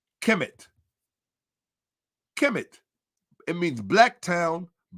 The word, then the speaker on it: Kemet: And this is the phonographic rendition of it. How you say it. Kemet.